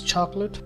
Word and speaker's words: chocolate: In the actual pronunciation of this word, there are just two syllables, which is chalk and let, which gives the word chocolate.